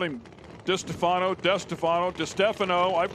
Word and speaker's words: DiStefano: And guys, just so you know, Wes DiStefano, he was so kind to elaborate on the mispronunciation of Di Stefano. It is DiStefano. I think I've called him DiStefano, DeStefano, DiStefano.